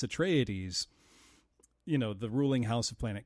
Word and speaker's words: Atreides: here's what it is, here's how you pronounce it, so it's Atreides, the ruling house of planet Caladan.